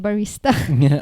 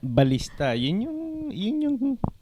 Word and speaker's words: ballista: I thought you said barista. Ballista. For to kill the dragon. Is that English? Ballista. Yeah. How do you spell it? B A L L I S T A.